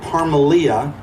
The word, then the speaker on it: Parmelia: Abram, and I got to look at his wife's name to make sure I say it right, Parmelia.